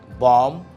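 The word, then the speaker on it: bomb: যেমনটা আমি বললাম, ল্যাম্প, বম, ওয়ার্ম, টুম, প্রত্যেকটা জায়গায় আমরা কি দেখি, বি ইজ সাইলেন্ট।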